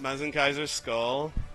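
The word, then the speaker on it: Mazinkaiser SKL: I'm going to blow your mind that that is pronounced Mezen Kaiser skull.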